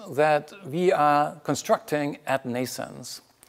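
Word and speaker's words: NNAISENSE: like the ones that we are constructing at nations nations is pronounced like birth in English like Neeson's but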